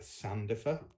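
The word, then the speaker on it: Sandifer: was listening to an old episode with Elizabeth Sandoffer.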